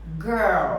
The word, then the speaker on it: girl: som de R, L, você tem que dar esse giro na língua. Girl. Girl. Isso. Não é girl. É, tem muita gente que fala girl. E é uma pronúncia que não é legal, é um sotaque forte.